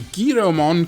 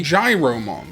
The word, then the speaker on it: Giromon: According to Wikimon, Gyromon, or actually apparently Giromon, comes from Giro, meaning sharp-eyed. And despite being spelled with an I, not a Y, when I was a kid, I got it into my head that it was meant to be Gyromon, like a gyroscope, which as a kid,